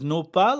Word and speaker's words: nopal: So do you pronounce the brand as Nopal or it's Nopalera?